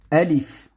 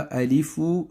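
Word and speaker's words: ألف: Alif. On ne dit pas Alifou, je le dis et je le répète toujours.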